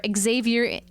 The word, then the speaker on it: Xaviertainment: And don't forget to check out Xavier Entertainment or Xaviertainment. Xaviertainment. Yeah. And it's exactly how it's spelled.